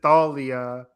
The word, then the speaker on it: Thalia: I say Talia. I will always say Talia. Even though the show says Thalia, I don't like it. It's always Talia to me.